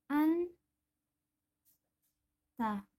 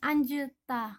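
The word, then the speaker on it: 앉다: contohnya Anta artinya duduk ini yang kita baca adalah huruf ngnya jadi dibaca an ta huruf jitnya tidak dibaca bukan anjta bukan cukup dibaca Anta saja selanjutnya nian hiat Contohnya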